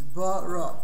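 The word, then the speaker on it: ברא: Now, additionally, the word borrow has two letters, base and resh, which are the only letters you pronounce. The third letter, the aleph, you don't pronounce. It's bara.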